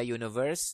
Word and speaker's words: universe: Ya, lain halnya dengan U pada universe dengan U pada ugly itu beda cara bacanya. Di sini ugly, ya. Jadi an ugly man. Di sini walaupun dia huruf mati, huruf hidup U dibacanya universe, huruf mati.